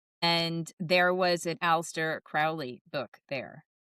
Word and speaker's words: Crowley: Now, somebody's going to correct us in the comments and say, "Actually, his name was pronounced Crowley." That is how his name is pronounced. But I will forever pronounce it Crowley.